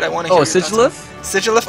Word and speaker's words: Sigilyph: Oh, Sigilyph? Sigilyph. Okay, so that's how I pronounce it as well, but I have heard Sigilyph as well, so Oh, yeah, I heard that too.